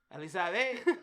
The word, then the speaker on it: Elisabet: Elisabet.